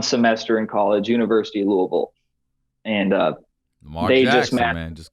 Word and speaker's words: Louisville: Yeah, Louisville.